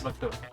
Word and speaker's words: Makoto: It's Makoto.